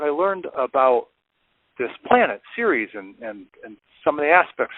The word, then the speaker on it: Ceres: People are asking me about this planet spelled Ceres, which is pronounced Ceres.